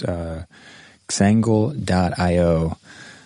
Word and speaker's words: Xangle: anyone again it's uh xangel dot io i think i'm pronouncing that wrong it's like uh for some reason i make a z sound when it's supposed to be an x i've noticed that about